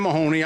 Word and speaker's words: Mahoney: Mahoney. I got that pronounced right.